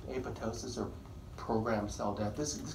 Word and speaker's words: apoptosis: All those digestive enzymes will destroy the cell ultimately, called apoptosis. Apoptosis, pronounced apoptosis, second P is silent, which is programmed cell death.